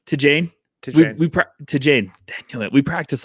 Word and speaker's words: Tidjane: We'll call him no, okay, it's Tidjane. Tidjane. Dang it. We practiced like 15 different pronunciations, and then we listened to someone say, he looks like beginning of the year.